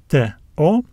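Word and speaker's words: τό: and we also have the Yota subscript which is silent so these letters give us the uh sounds t o we read this word as to this is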